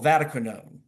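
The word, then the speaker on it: Vatiquinone: enrolling you will recall Vaticanone originally discovered in the Vatican so that with a the accent goes on the first syllable for those who were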